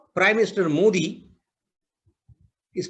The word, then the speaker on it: Modi: of how prime minister modi is pronounced so i've actually repeated written down in hindi in tamil in english is supposed to be modi with an h unfortunately people don't write